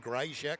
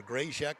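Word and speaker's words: Grajczyk: G R A J C Z Y K Postman said Grachek. So, or Greyek. So, we'll go with that.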